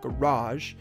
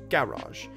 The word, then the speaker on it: garage: is actually that way british english is super weird like in like in garage becomes garage so when we would emphasize the second syllable garage they emphasized the first one so garage usually this applies only to etymologically words that are from french originally which is not important